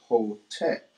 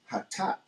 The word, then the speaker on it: Hotep: But again, if you take out the vowels, you'll have the root letters H, T, and P. And if you knew, you could still pronounce that without the vowels. But the people that introduced the vowels put the O and the E. So you get Hotep. But we say Hatap, which is still replacing